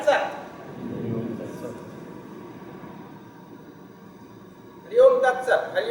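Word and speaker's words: सत्: If that Halan was not there, you say Sata. But Halan is there, so you say Sat. Tat Sat. Hari Om Tat Sat.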